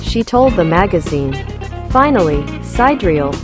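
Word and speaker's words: Sideræl: told the magazine finally sidereel which is pronounced side deer eel is a more elven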